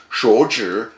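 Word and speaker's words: 手纸: In Chinese, it's pronounced 手纸, and it means toilet paper.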